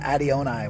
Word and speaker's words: Adionai: interviews Mount Shasta City Park here we have ADI onai what's up brother what's up bro is that the proper pronunciation yeah what's the uh where does it